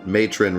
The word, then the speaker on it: Matron: going get in somebody said that matron rhymes with bacon and that's how you